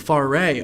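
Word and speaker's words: Fauré: Okay, so you're gonna have to help me pronounce this. It's a requiem. Is it Frauer or Faré? Faré.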